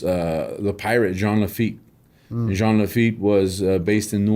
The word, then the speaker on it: Jean: oh okay yeah but john it's jean like jeans yeah john john yeah